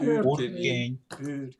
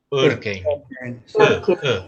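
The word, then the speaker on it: Örkény: si alguien me ayuda, algún húngaro, ¿cómo se pronuncia? Urkény. Urkény.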